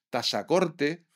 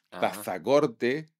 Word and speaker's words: Tazacorte: sí es que decís, decís dáil, decís decís tasacorte, decís guashimara. Y sí, ¿cómo tenemos que decir? Pues tenéis que decir dácil, tazacorte, guazimara. Concretamente puso ejemplos de de de pronunciaciones erróneas por un peninsular que desconoce la etimología de esas palabras. Guasimara, dáil y tasac nunca se pronunciaron con Z en Canarias.